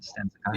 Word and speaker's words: Stan Sakai: Stan Sakai?